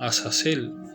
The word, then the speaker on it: Azazel: Y dice: Tú has visto lo que ha hecho Asael. Aquí quiero mencionar que hay una comita, entonces esto se pronuncia como Azazel.